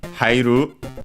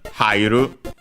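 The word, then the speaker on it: 入る: then the verb haitte from hairu, should be unaccented, we have seen it before, which means to enter. Actually, sorry, accented, hairu.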